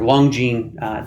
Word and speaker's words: Longjing: Longjing tea is, I believe, how it's pronounced.